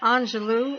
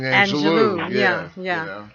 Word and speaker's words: Angelou: Is her name pronounced Angelou or Angelo? It's actually Angelo. Angelo, okay. Right. I heard someone make the correction this morning. Because I all this time have been saying Angelou.